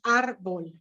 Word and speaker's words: árbol: y de negocios contamos árbol la la acentuación va en la primer sílaba y aquí vemos otras